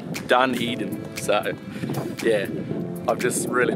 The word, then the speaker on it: Dunedin: I'm currently and I've been pronouncing it wrong the whole time it's called Dunedin so yeah I've just